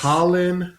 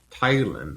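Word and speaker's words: Tyland: Tylen Lannister. Try it again cuz that's not his name. Tyler. There you go.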